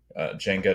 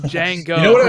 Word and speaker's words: Jango: the Army to doku say you butchered two of those names what which one Dooku oh sorry and Jango you know what's you